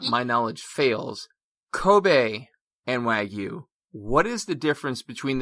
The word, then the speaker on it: Wagyu: of different places the way it technically is pronounced is wagyu you'll have some people call it wagyu but i think a lot of that comes